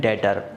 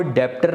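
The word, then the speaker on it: debtor: Accounts में बोलते हैं डेटर। यहाँ पे एक बात ध्यान रखना, यहाँ पे बी साइलेंट है, कोई भी इसको डेप्टर नहीं बोलेगा, कोई भी इसको डिबेटर नहीं बोलेगा।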